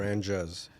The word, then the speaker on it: Franjez: Franjez. It's a mix of my first and last name, Francisco.